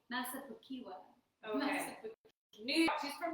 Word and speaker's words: Massapequa: Oh, I think I like her reading them because I like her saying how she pronounces the cities. How do you say that? Massapequa. Massapequa.